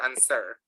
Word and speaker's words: answer: Is this pronounced answer, or is this pronounced answer? How is it pronounced? Answer or answer? Answer or answer? Answer. The second one is Answer. answer. Answer. It is pronounced answer.